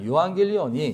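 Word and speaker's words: εὐαγγέλιον: 유한겔리온이 이제 유 어 이게 이제 유처럼 생긴이 발음이 우 발음이 될 수도 있고 브 발음이 될 수 있어요. 그래서 근데 이제 보통 고대에는 우 발음이 많이 나기 때문에 유라는 우라고 하는 그래서 유황겔리온 그래서 유와 안겔로스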